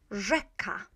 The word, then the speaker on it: rzeka: Now, this digraph, RZ, is exactly the same in pronunciation as Z dot. So we can say that Z dot Z equals this. It's a different spelling, the same sound.